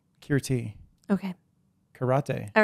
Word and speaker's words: Kirti: I first met you ctie that is not how you say my name kirti okay karate all right